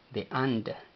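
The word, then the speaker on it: አንድ: a letras en español como A, N sin pronunciar un vocal y finalizando con D de doctor sin pronunciar vocal.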